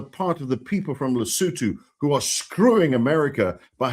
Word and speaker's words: Lesotho: It's called, and let me help you pronounce it for those who don't know, Lesotho, not Lesotho.